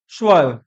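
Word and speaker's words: sewer: सा स्पेलिंग है बट याद करना इसका प्रोनंसिएशन है स्वर स्वा मैंने ग से किया था तो ऐसे ही वो बोल रही थी स्वार सुअर नहीं स्वार पाइप का कनेक्शन है इसको बोला जाता है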